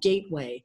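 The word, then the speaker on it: Gaitway: school of all things called gateway and it's spelled GA I TWA y and Gateway school is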